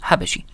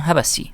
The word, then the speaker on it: حبشي: وخلفه أخوه أو ابنه قوط، ثم تلاه ابنه الأشهر أو ابن ابنه حبشي. طبعا النطق بالأثيوبية يختلف قليلا جدا، فبمراجعهم هبسي، وبالمراجع الإنجليزية كذلك نطق قريب منه، ولا داعي لنقول لكم